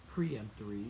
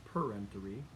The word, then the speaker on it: peremptory: peremptory challenges and again it's not preemptory it's peremptory a lot of people mispronounce that word because they think you're pre-empting something but you're not it's a per m3 challenge and at a minimum